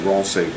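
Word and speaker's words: Roncevaux: The second one is that like French would say ron say v and r say v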